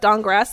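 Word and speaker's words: Dankgrass: pages so named walnut dong grass the K is silent races wood elf class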